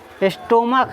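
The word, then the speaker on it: stomach: सी एच क्या है स्टमक है इसको पढ़ा जाता है स्टमक क्या पढ़ा जाता है स्टमक क्या पड़ा जाता है इस सीच का उच्चारण क्या बन गया क तो इसका प्लूरल कैसे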